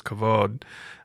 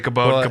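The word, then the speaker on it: כבוד: that word was was cavod um which is spelled with the BET which sometimes sounds like a V so we can we're speaking it we can say kab you speaking Hebrew or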